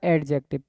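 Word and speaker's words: adjective: से क्या होता है, अपन प्रोनाउंसिएशन करते आते हैं वो गलत करते आते हैं, जिसको जिसमें डी साइलेंट रहती है, जिसको एडजेक्टिव ना बोल के अपन बोले एडजेक्टिव। क्या बोलेंगे? एडजेक्टिव।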